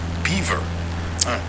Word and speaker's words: Belvoir: a famous Farm in Old estate and it's pronounced Beaver Featherstone Hall is an English family it's fanore